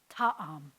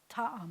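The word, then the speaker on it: טעם: with an AA and then there's an iron which is essentially silent or a voice glottal stop with an AA and a marshmallow mem and this is another situation where the first syllable is going to be accented Tom Tom this tastes so if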